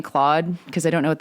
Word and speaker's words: Claude: Um, I also hate how everyone's saying Claude because I don't know what that is cuz of course in Quebec that's pronounced clo.